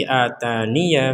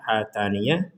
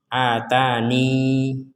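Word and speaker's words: آتانِ: Jadi ketika waqaf itu ada dua cara membaca. Yang pertama itsbatul ya sakinatan, ya-nya disukun. Jadi dibacanya atani. Wa tsaniha hadfuha ma'al waqaf 'ala nun sakinatan. Yang kedua ya-nya dihilangkan, kemudian waqafnya di nun bersukun menjadi atan. Jadi cara membaca yang pertama adalah atani, yang kedua atan.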